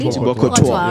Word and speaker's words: Thibaut Courtois: Am I pronouncing this correctly? Thibaut Courtois, right?